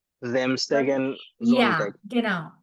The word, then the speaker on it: Samstag: Starting S is a Z sound. Samstag Sorry?